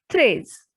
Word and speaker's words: treize: Number 13, threes. E and I has sound A. Threes.